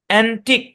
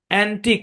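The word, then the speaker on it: antique: এখানে ভাগ হবে আর এখানে ইউ এবং ই সাইলেন্ট উচ্চারণ করেন অ্যান্টিক অ্যান্টিক অ্যান্টিক মানে অ্যান্টিক মানে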